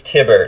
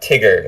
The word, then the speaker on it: Tiber: It's Tiber, not Tigger, like the guy from, Winnie the Pooh. Oh, I thought... It's Tiber, like as in Tiberius.